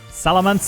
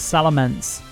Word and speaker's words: Salamence: we've got to do salamance it is salamance salamence i was saying it wrong not bad all right